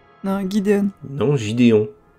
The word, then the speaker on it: Gideon: Le Moff Gideon. Non, Gideon. Non, Gideon. Non, Gideon. Non, mais ça se prononce G, le G en anglais. Bah, Gideon. C'est comme GIF.